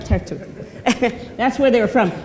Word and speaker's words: Tartu: But that's right, Tartu.